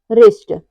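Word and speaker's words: wrist: यदि डब्लू के बाद आर आए तो डब्लू साइलेंट रहता है जैसे है रंग राइट rap rapper wrinkle रिस्ट इन सब में क्या आ रहा है इन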